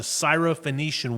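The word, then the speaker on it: Syrophoenician: podcast and this week we're talking about the cyof phenician woman correct did I say it right you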